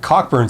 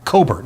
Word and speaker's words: Cockburn: Cockburn says, or Coburn. Coburn is how you say it.